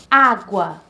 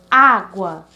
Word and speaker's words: água: A palavra água, vamos repetir, água. Então, a sílaba mais forte seria A, o primeiro A da palavra, porque nós começamos do final, certo? Para o início. Então, água. Então, tem duas sílabas, então o guá é o mais fraco e o A é o mais forte, o primeiro A da palavra, certo? Então, é uma palavra paroxítona.